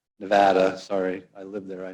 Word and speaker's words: Nevada: california oregon washington arizona alaska idaho montana nevada nevada sorry i lived there i know that's how you pronounce it guam and the mariana islands so